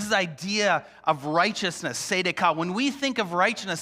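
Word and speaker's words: צדקה: In Hebrew, it's pronounced tzedakah. It's right, equitable relationships between people, no matter their social strata. This is the idea of righteousness, tzedakah.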